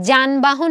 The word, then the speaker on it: যানবাহন: তুমি জাহাজ লেখার সময় বর্গীয় জ লিখবা। আবার যানবাহন লেখার সময় অন্তস্থ জ লিখবা। বানান আলাদা। কিন্তু যানবাহন আর জাহাজ দুইটা সাউন্ড কি? জ এর দুইটা সাউন্ডই কিন্তু তোমার কাছে সেম।